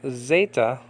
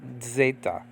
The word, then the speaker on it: Zeta: with your teacher okay this could be either pronounced Zeta or okay Zeta or um uh Zeta with a D sound in the beginning of it so actually